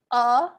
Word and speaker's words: a: a table a table we want to pronounce that with the um schah sound uh instead of a so that the language